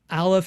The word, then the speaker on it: aleph: that up online but currently aleph as well as the other silent letter is like the h in the word honest it's almost like it's